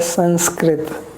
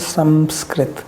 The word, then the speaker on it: Sanskrit: So like we say Sanskrit, but it is proper pronunciation is Samskrit. Samskrit. So when you say Sam, then it is nose and shira. When you say San, then it is more teeth, San. So Samskrit.